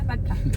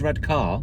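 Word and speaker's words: Redcar: out to sea yeah redka but they're not you said so well that's how you say it that's how it's pronounced anybody who says red car oh that's very Posh needs have a have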